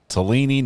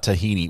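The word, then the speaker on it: Tallini: would only be appropriate talini not tahini we I've mispronounced his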